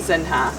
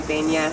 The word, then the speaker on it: Zeenya: So in Portuguese, it would be spelled Zinha, which would be Zinha, wouldn't be pronounced right. So we wanted people to say Zeenya, so we changed the spelling.